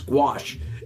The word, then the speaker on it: gouache: Anyway, for those of you who care, it is gouache.